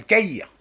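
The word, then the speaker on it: Tahir: Bah, écoutez, si vous savez écrire le mot cahier, si vous savez ce que c'est qu'un cahier, ça s'écrit comme un cahier, mais sans le E. Voilà. Pas faire mieux. Caïr.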